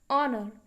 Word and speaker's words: honor: that begin with vowels the first letter of the word honor for example is a consonant but it is unpronounced now you can see that it is H here and so it is consonant but I when I'm pronouncing it I'm calling it as honor that means in spite of its spelling the word honor begins with a vowel sound therefore we use the